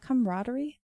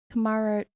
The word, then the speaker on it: camaraderie: Is that camaraderie? Camaraderie.